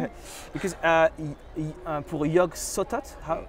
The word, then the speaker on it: Yog-Sothoth: Because pour Yog-Sothoth, how would you pronounce it? Yeah, Yog-Sothoth. In I believe he said it with the soft th, Yog-Sothoth.